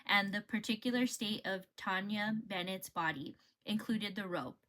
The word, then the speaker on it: Tanya: I was saying Tanja because they spell it Taunja Bennett, but her name is Tanya.